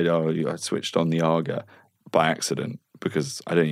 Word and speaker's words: AGA: Argo I'd say no I switched on the agar by accident because I didn't even have an